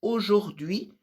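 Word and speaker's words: aujourd'hui: O jordi a pronúncia dela não é exatamente como se escreve, porque senão teria o juri. E na verdade a gente pronuncia muito mais o jordiui com som de o no meio.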